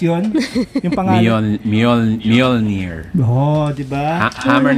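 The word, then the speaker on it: Mjölnir: Kaya niyo ba i-pronounce yun? Yung pangalan? Mjolnir.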